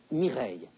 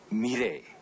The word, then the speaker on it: Mireille: Prononcez Mireille. Allez, allez-y. Mireille. Écoutez, Mireille. Allez-y, essayez. Mireille.